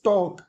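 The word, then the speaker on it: talk: Let's टॉक टी ए एल L silent है यहां पे। ठीक है? एल क्या है? साइलेंट है।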